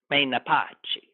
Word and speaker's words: Menapace: I think I'm pronouncing that right. Menapace.